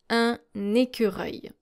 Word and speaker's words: écureuil: in French, which is un écureuil. Un écureuil. Once again, just like in the word accueil, you don't really pronounce the L here. Écureuil.